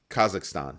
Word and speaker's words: Kazakhstan: a string of steps kazak what is it kazakistan yeah kazakistan kazakstan I'm not quite sure how to pronounce it the spelling throws me off so Kazakhstan that's how you do that's how you pronounce it Kazakhstan so Kazakhstan has issued